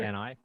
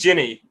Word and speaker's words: Gini: Yeah, I actually pronounced this wrong. It's a Guinea, not Guinea. It's Are you sure? Gini. Yeah. Well, I guess so. I mean, it's the same. no, it's like, Ginny.